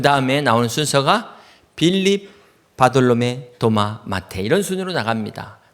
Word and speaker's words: 바돌로메: 요한의 아들 시몬아 이렇게 부른 것처럼 바돌로메의 정확한 발음은 바르탈메입니다.